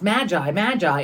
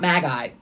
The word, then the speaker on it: magi: Thank you for all of the people that have reached out to tell me that you pronounce magi, and not magi.